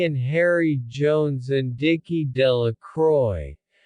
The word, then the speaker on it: Delacroix: harry jones and dicky delacroix the villagers pronounced this name delecroy eventually made a great